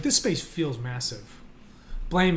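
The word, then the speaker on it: Blame!: Blame, it's a manga by Tsutomu Nihei. Highly recommend checking out the word blame with an exclamation mark at the end. It's pronounced blam.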